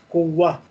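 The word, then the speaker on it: قوة: Ta marbuta at the end is not pronounced. Kuwa.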